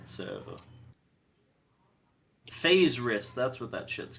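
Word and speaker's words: faerzress: it's a boss fight ugh all right so phase wrist that's what that shit's called yes phase wrist it's spelled weird fa I don't know if I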